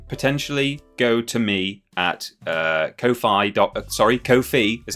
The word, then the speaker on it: Ko-fi: coffers, it can potentially go to me at Ko-fi is how it's pronounced.